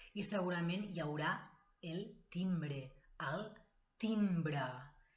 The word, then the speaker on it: timbre: I segurament hi haurà el timbre, el timbre. Timbre, aunque acabe con E, se pronuncia A, el timbre.